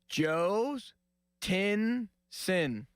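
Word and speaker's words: Jhostynxon: Joe's Tinson.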